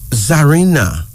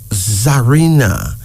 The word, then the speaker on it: Zarina: Here's another female name, Zarina. Zarina.